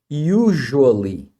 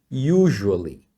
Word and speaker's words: usually: S aqui, só que esse S nessa palavra é pronunciado como um J, tá? É isso mesmo. Usually, usually.